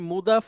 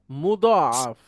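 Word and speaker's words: مضاعف: যেটার নাম হচ্ছে মুদাআফ এটা আবার সেই মুদাফ মুদাফ ইলাইহিনা এটার উচ্চারণটা একটু আলাদা মুদাআফ মুদাফ আর ওইটা হচ্ছে মুদাফ তাহলে মুদাফ ক্রিয়া এখন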